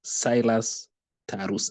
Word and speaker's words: Silas Tarus: As you've heard, my name is Silas Tarus. It is pronounced as Silas Tarus.